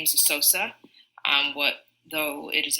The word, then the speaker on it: Eseose: helps people is that I tell them to pronounce it Sammy soap so think of Sammy Sosa but with an A so so so so